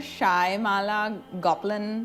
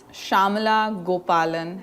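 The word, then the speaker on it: Shyamala Gopalan: States in India so he keeps calling her shy Mala golin Harris catch an Indian person on the street and ask them how do you say this name and they would tell you shamala gopalan Harris her mother if she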